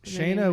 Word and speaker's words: Shana: Typically, my name does have extra letters in it to like uh to indicate that there it is pronounced the way that it is, like a Y or an I, but my parents weren't buying any extra vowels. Yeah, Shaya without the Y is the way to go.